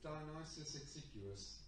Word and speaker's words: Dionysius Exiguus: How do you pronounce his name, please? Dionysius Exiguus, Dennis the Humble.